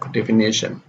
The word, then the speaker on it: definition: So if we come across a word which ends with shun, then the stress is on the syllable before the shun syllable. Combination. The same is here, definition.